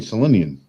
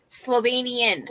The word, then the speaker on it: Slovenian: how to spell that you were saying selenian no she wasn't selenian say it again Rhonda Slovenian I'm Slovenian I never heard the V out of your mouth wow that's hilarious Slovenian